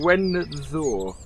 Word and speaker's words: Gwenddwr: I was going to call it something completely right, but I think I've got it right by calling it Gwenddwr.